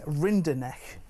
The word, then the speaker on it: Rinderknecht: He's going up against Arthur, if I can get this one right, Rinderknecht, I think it is, who's French. I've been practicing that pronunciation.